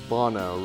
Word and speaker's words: Bono: And he said, no, it's Bono, rhymes with mono.